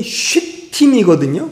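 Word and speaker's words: שטים: 조각목으로 만들어 놓고, 이 조각목의 히브리어 발음이 쉬팀이거든요.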